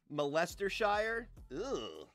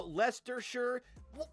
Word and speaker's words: Leicestershire: to go to molestashire oh lester sure how how is it leicestershire why don't you just spell it like that then why do you got to be like put an i put a c in it maybe a couple more e's hey